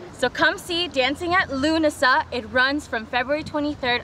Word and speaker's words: Lughnasa: pronounce this dancing at lasagna dancing at dancing yeah the G is silent the seven G okay so dancing at Lughnasa perfect he did it